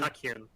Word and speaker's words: Tachyon: Would there be an extreme version of the gigabyte board like the, help me out with the pronunciation of this one, the Tachyon? Tachyon.